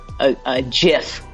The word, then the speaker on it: GIF: gonna be a jiff points points for correct pronunciation by the way okay mucho points there's we don't accept another pronunciation that's not true I want to say gift and I only said jiff just so I could tell the people that I understand that it is jiff but it's gift oh